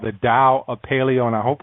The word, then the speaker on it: Tao: you it's called the Dow a paleo and I hope I'm pronouncing that right I think I remembered as Dow of paleo it's not you don't pronounce it like a tee but it's a dial